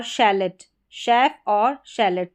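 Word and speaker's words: chalet: सी एच को श जैसे कि यहां पर शेफ क्या है? शेफ और शेलेट।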